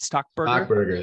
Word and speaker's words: Stockberger: I'm talking to stockberg stock Burger did I pronounce that right stock Burger there you go you got it all right who is